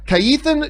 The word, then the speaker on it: Kajetan: And our second main topic today gets submitted to us by Kaithan Judah. Thank you for putting in the phonetics of that in there, because I would have pronounced it Kajetan Judah.